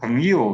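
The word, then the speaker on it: 朋友: Pengyu biasanya ya. Ini Pengyu. Yu-nya nada ringan ya. Pengyu.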